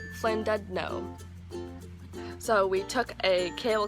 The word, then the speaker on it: Llandudno: After the castle we went to a town which is spelled like this but pronounced Llandudno.